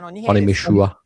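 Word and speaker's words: Onimusha: Onimishua.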